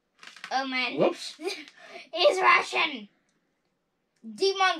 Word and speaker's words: Demon: Demon that I accidentally pronounced as Daemon.